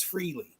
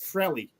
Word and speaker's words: Frehley: He says, "Yeah, people say freely or they say frilly." He says, "I pronounce it frilly." He just says it really fast. Ace Frilly. Ace Frilly. Almost like frilly.